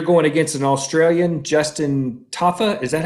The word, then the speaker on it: Tafa: is and you're going against an australian justin tafa is that how you say it yes sir